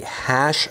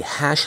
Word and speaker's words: HASSH: It's the hash library, I guess is how you pronounce it.